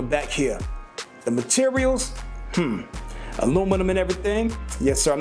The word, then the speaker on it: aluminum: here the materials hmm aluminum and everything yes sir i'm not gonna say aluminium i'm gonna pronounce it the way it's supposed to be pronounced it's aluminum people it's aluminum all righty